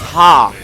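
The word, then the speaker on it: ห้า: and the fatigue pants in thai the number five is pronounced ha did you hear me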